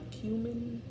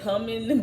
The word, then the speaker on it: cumin: Ground cumin. I used to say cumin, but they was like, no, that's wrong.